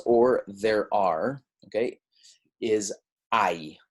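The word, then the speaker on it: hay: there are okay is ie right it's not hey not hey remember that H is silent ie I and so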